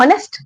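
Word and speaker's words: honest: आपको ध्वनि सुननी है। उसका स्वर कैसा आ रहा है? तो जरा इसको बोल के देखिए। इसको क्या बोलते हैं हम? ऑनेस्ट। होनेस्ट नहीं बोलते।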